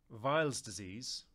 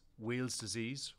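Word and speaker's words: Weil's disease: the site Safety Office vials disease sometimes pronounced as wheels disease or wires disease is an acute infectious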